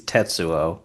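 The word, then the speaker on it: 鉄: who the fuck is Tetsuo? Yeah, yeah, yeah. You Exactly. know? Yeah, exactly. And I should tell you, so like Tetsu, Yeah. but pronounced Tets. That's how you say steel.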